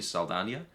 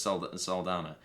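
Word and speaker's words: Saldaña: I think Zoe, I think her name is meant to be pronounced Zoe Saldana, because it does have an Enye. Everybody says Saldana, but she's great as Gamora.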